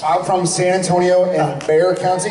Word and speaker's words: Bexar: I'm from San Antonio in Bear County. Bear County. Also known as Bexar County. Yeah. It's ironic because I hate bears. I'm terrified of bears. Oh. But it's spelled Bexar.